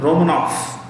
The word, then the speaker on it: Romanov: V तो जब V से एंड होता है वर्ड रशियन में, तो F से प्रोनाउंस होता है.